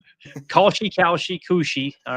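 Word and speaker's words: Kalshi: I won't put it on the screen, but uh how do you say is it Koshi or Koshi Sports? The new gambling service. K A L S H I. How would you I've heard Koshi?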